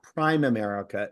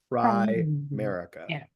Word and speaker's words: Primerica: by the way y'all the proper pronunciation even those of you in the south is not prime America it's Prim America Prim America thank you